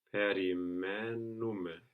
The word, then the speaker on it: περιμένουμε: Περιμένουμε.